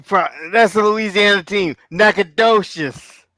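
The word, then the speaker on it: Nacogdoches: that's the Louisiana team nacad docious no is that how you say it nacad docious yeah I got to think about it like it's naad docious all right and then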